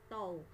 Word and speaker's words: tau: jadi momen gaya itu simbolnya seperti ini bacanya adalah tol jadi momen gaya atau